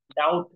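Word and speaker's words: doubt: डी ओ यू टी असं देतो कोणी correct spelling D ओ यु बी टी डाऊट असं असतं ओके ही स्क्रीन क्लिअर आहे आणि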